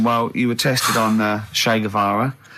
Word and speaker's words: Che Guevara: Che is like shake. And his his surname is like guitar. Right. Che Guevara.